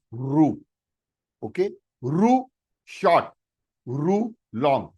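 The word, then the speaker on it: ऋ: A, I, U, U, Ru, 99% of the Sanskrit teachers are also pronouncing this alphabet as a Ri. They are wrong. It is not Ri. It is Ru.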